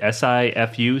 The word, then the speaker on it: Sifu: S-I-F-U?